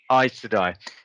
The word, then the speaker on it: Aes Sedai: How do you pronounce it? I'll watch anything that she's in. Aes Sedai.